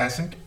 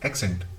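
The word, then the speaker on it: accent: नॉट एसेंट, एक्सेंट, Indian एक्सेंट भी है.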